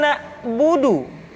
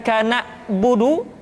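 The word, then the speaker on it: نَعْبُدُ: Kemudian perhatikan ketika huruf ain disukun, maka suara kita tidak boleh mati. Contoh, iyyaka na'budu, bukan kana budu, tetapi agak ditekan sedikit, kana budu, iyyaka na'budu. Itu pengucapan huruf ain.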